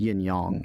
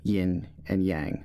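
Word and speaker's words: yin-yang: intermingled okay and then yeah then yes it's pronounced yunyoung not yin and yang like that's incorrect that was it that was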